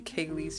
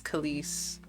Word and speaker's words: Kalees: But um in like 2017, I was like, "Nah, I want it to be Kayle's Eternity."